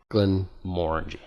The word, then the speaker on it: Glenmorangie: And you get sponsored by Glenmorangie. By Glenmorangie. You gotta learn how to say it right, though. Glenmorangie. It's not gonna work out well. Glenmorangie. Think about orange. Morangie. Orange. Glenmorangie.